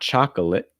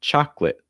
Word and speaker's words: chocolate: So it's not chocolate, it's chocolate. Also notice that the first O is an ah sound, so you want your mouth really wide. Cha, ah. And then the second syllable is going to have almost like a short I sound, like lit, lit.